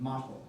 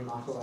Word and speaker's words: Motel: She's fallen in love with a young man named Motel. It's spelled just like motel, but anyway.